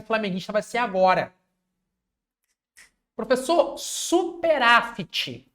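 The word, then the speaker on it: superávit: Professor, superáfite com T mudo.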